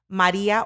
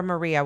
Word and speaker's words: Maria: I always say Maria or Maria, whatever comes off your tongue best.